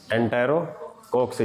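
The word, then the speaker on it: Enterococci: क्या पढ़ते हैं इनको? एंटेरो नहीं, कोक्सी। क्या पढ़ना है? एंटेरो कोक्सी।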